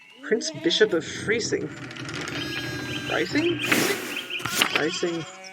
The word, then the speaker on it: Freising: Freising. Second I is what picks up the pronunciation.